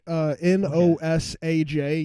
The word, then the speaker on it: Nosaj: It's like nostalgia, but it's like Nostage. Nosaj.